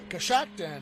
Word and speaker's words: Coshocton: Coshocton, yeah.